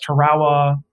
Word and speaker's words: Tarawa: islands a place that you will hear veterans pronounce it as tarawa i tend to say tarawa but the terrible landings